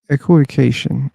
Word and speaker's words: equivocation: In at least American English, the emphasis is on the second syllable. It may be different in British English.